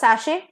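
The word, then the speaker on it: sachet: ए सी एच ई टी is pronounced as सशे टी जो है वो साइलेंट रहता है सशे क्या होता है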